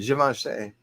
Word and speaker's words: Givenchy: Givenchy. I mean, that's how you say it. Givenchy. I mean, I usually say Givenchy, but like, guys, appreciate you, December.